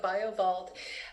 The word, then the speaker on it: BioVault: And did I pronounce that correctly? Yeah, it's called the BioViva BioVault.